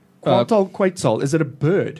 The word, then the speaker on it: Quetzal: Quantal Quetzal. Is it a bird? Quetzal, yes.